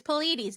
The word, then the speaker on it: Pleiades: It's Pleiades.